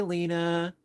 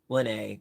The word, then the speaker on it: Lene: Uh, Hi, Lena. How you doing? Or sorry, Lene. Excuse me. I missed the I at the end. How you doing? Actually, I do have cards from Lene, rhymes with Renee.